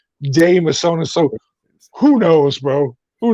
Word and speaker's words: De Mesones: words it's not hard now you said d misonas and my brother pronounces our name d misonas and i pronounce it damasana so who knows bro